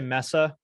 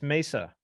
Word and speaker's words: Mesa: So I I'm offended when I hear people say Mesa. I'm offended. that's not how it's said. There aren't two S's. It's Mesa.